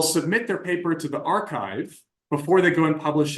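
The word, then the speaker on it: arXiv: every morning I check the archive it's spelled with an x uh but what the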